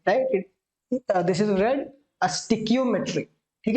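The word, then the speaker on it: stoichiometry: स्टिक्योमेट्री इज STOICHOIMETRY, right. This is स्टिक्योमेट्री। इसे स्टोइचियोमेट्री नहीं पढ़ेंगे, राइट। दिस इज रेड स्टिक्योमेट्री, ठीक है।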